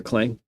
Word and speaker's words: Clang: Okay, you hear Clang. Good. That's the way it should be pronounced.